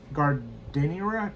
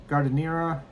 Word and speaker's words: giardiniera: g i a r d i n i e r a. Alexa, how do you pronounce g i a r d i n i e r a?